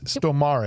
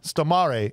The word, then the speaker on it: Stormare: Stormare is how it's pronounced, okay?